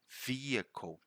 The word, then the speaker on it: vehicle: you pronounce that one this one is vehicle you can see the schwa sign there again vehicle twice right vehicle vehicle not vehicle not vehicle vehicle vehicle again find ways to use